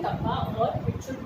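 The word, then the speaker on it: kappa: और देखो ऐसे सी बनाओ, और इसको हम कप्पा कहते हैं। बेसिकली इसको हम क्या प्रोनाउंस करते हैं, दिस इज कप्पा।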